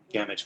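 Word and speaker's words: Gamage: does he pronounce it damage please damage like damage it rhymes with damage absolutely all right uh professor damage not damaged but thank you where are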